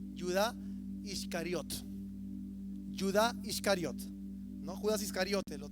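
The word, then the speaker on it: יהודה: venías con Judas Judas en en hebreo se pronuncia ciudad iscariota yudá iscariot no Judas iscariote lo traducen en el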